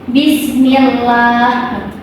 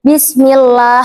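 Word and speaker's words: بِسْمِ اللَّهِ: Nih contohnya bismillah. Bismillah. Enggak usah ditebalin, Teman-teman. Sama. Alhamdulillah. Kan kalau yang ini mah qolallah kerasa tebalnya ya. Kalau ini bismillah.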